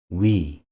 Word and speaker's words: 위: We. You should pronounce U and E in a low very quickly. We is pronounced like the initial sound of words we or wizard.